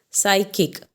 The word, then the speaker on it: psychic: So here B is silent. Then psychic.